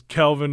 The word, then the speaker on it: Kelvin: he goes, just like my name is Kelvin, not Kevin.